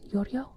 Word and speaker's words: Giorgio: I think I also disappears in Giorgio. Oh, it's Yorio.